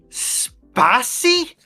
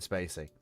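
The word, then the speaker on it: Spacey: I know it's Kevin Spacy.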